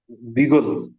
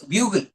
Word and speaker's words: bugle: uh pronounce it properly bigle not exactly bigle sorry no no no I'm talking about fourth word m it is bugle it is bugle in